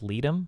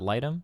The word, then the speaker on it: Leadham: It's pronounced Leadham, not Lightham.